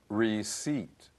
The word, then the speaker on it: receipt: please remember this word the P is silent there's no receipt /